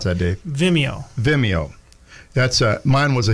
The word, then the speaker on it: Vimeo: And we're going to be touching on some YouTube topics and some Vimeo, a few sites. How do you pronounce that, Dave? Vimeo.